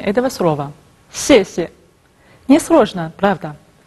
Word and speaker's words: 谢谢: Я знаю, что некоторым даются с трудом произношение этого слова. 谢谢. Не сложно, правда? 谢谢.